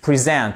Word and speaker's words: present: To present. Vous voyez ce qui se passe à chaque fois pour le verbe. En fait, l'accentuation, elle est sur la deuxième syllabe.